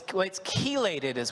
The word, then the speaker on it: chelated: But we have it's chelated, right? Am I saying it right? Correct.